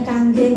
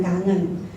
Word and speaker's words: Kangen: yang namanya kanggeng water saya luruskan bacanya kanggeng ya Bukan Kangen nanti dipakai buat gombal-gombalan lagi ya itu di ee berasal dari bahasa Jepang nanti akan dijelaskan lagi